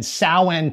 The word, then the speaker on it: Samhain: inspired by cthulhu and samhain itself that's how it's pronounced in the show save your samhain and sowhen takes for your halloween